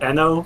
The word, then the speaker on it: Eno: I would prefer to pronounce it Eno, please.